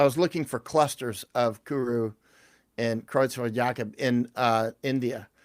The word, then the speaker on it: kuru: Someone mentioned kuru.